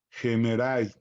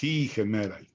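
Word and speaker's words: ἡμέραι: la segunda letra y si es rudo, la primera letra desaparece y se pronuncia la H aspirada con la siguiente vocal. Entonces, gemerai, gemerai, gemerai. Vamos a ponerlo aquí. Y es gemerai.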